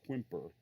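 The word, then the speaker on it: Quimper: in the United States most people call it whimper I've spelled qu I MP er I'm pretty sure the proper French pronunciation might be Pompeii or something like that the this was a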